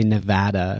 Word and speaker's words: Nevada: add insult to injury Marin uses the pronunciation of Nevada not preferred by residents although he does complement it as a beautiful state what what is that in reference to Nevada no one likes that pronunciation he say and I think I corrected him and said say Nevada oh really yeah yeah